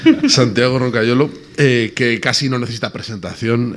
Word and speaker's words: Roncagliolo: Bueno, te voy a pronunciar a la italiana, Roncagliolo. Muy bien, es Sí, mejor, ¿no? que como lo pronuncio yo. ¿Sí? ¿Cómo lo pronuncias tú? Yo digo Roncagliolo, es lo fácil.